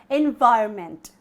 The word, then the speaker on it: environment: on mint that is not how it is pronounced my dear friends its environment okay environment you make sure the verb or